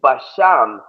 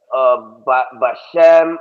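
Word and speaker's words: בשם: The next word is Basham. Now I know you come from one west, and they all say Bashem, or what is Yahweh Bahashem Yahweh Shai. They always say that shit. Yeah, I came out of IUIC. They never actually practiced that shit. Oh, because they don't speak Hebrew. Yeah, they're like Jesus. Yeah. Well, that word Basham, they usually say Bahasham.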